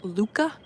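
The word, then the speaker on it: Lykke: our conversation about uh the little book of Luca, which is spelled, look at this bird over here. Uh, it's spelled L Y K E, but it's pronounced Luca.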